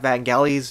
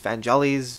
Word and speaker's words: Vangelis: to really modernize the original of like that Vangelis Van jellies Vangelis Rihanna pronounce his name how they they modernized it